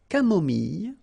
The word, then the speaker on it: camomille: So remember when we get this E and then double L, it goes like Y, Y. Mille, mille, camomille, une camomille, un thé au lait, final T not pronounced, un thé au citron, un thé glacé.